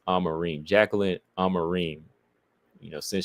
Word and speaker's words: Amorim: It's Amarim now, right? That's how they pronounce it. I'mma put some respect on her name. It's Amarim.